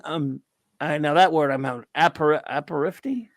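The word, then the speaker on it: apéritif: Now that word I'm having aperitif.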